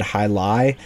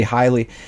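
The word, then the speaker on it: Heiligh: of this guy and the announcers were pronouncing it highly so i think in previous videos when i talked about him i may have said hi lie just because that was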